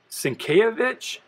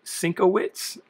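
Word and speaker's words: Sienkiewicz: it's bill bill i think his name is pronounced cinkayovich but as a kid i always pronounced it cinco wits so i wasn't a very smart kid uh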